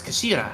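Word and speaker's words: 頭: It's written as the head in Japanese, but it's pronounced as Kashira. I believe Kashira.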